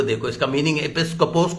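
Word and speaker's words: ἐπίσκοπος: एपिस्कोपोस, EPI, board होता तो मैं ब्लैक बोर्ड पे लिखता, EPI, COPOS, इसका उच्चारण है एपिस्कोपोस।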